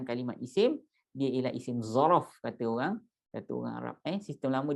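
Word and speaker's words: ظرف: So if ni merupakan kalimat isim, dia ialah isim ruang, isim zaraf. Kita sebut zaraf tuan-tuan. Zaraf, Z-O-R-O-F, ujung di F, zaraf. Okey, ejaan Arab dia macam ni Ustaz?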